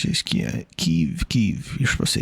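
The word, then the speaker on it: Kyiv: Kev. You're supposed to say Kev, I think. I think that's how you're supposed to pronounce it.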